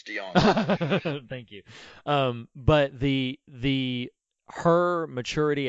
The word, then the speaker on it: DeJonge: Hey, at least we're not pronouncing the J, it's DeJonge.